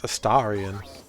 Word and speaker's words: Astarion: It's not even Asterian, it's Astarian.